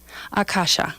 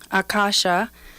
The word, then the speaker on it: Akasha: pronounce the language but Akasha and the line you know the accent over the two first the first two A's those are long a so uh kasha is